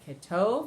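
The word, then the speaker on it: כטוב: So ketov is the end.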